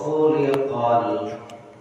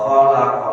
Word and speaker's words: khuliqa: Misalnya pada kalimat wa khuliqal insanu dha'ifa, kata khuliqa bila mana diganti dengan fathah bacanya wa khalaqa, lain artinya dengan khuliqa. Khaliqa. Jadi khu itu berharokat dhamma itu majhul, kalimatnya pasif. Wa khuliqa telah diciptakan, beda dengan wa khalaqa.